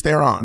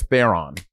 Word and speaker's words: Theron: She's like, it's actually pronounced Charlize Theron. But everyone says Theron.